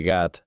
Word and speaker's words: Gat: Según 1 Samuel 17:4, la ciudad natal de Goliat era la ciudad filistea Gat, pronunciada así en hebreo.